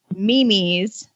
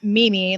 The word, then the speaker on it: meme: So our latest was, I was pretty sure that memes were popping up everywhere. Memes. Yeah. And so what I was told was it's not Mimi, like whip a nay, like it's not, Mimi or May.